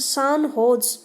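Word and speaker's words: San Jose: Recently the सेंट जोस pronounced सान होज state university of which they were farmer student honoured them एंड installed their status in university campus.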